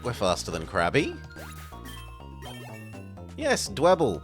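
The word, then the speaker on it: Dwebble: faster than Krabby yes dble because it rhymes with Pebble it's not dweeble it's not saying I'm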